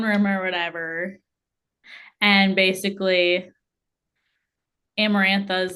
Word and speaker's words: Amarantha: say the crap her name I think it's amarantha yeah amarantha that's what it is so she is like I'm going to come save my man and she goes into the throne room or whatever and basically amarantha is like knew this was gonna happen like